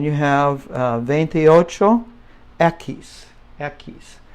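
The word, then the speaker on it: equis: venti Ocho ekis ekis heck where are my keys you know I'm sorry but that's a eckies keep off the H I guess eckies this part right here keys that's how it sounds that's the X now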